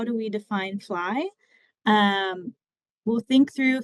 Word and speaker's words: FLI: fly um at colia we use the acronym fly it is pronounced fly f l it's acronym for our